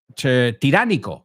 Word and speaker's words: tiránico: Tiránico. Okay, so we say tyrannical, and you say con una O, tiránico. Okay?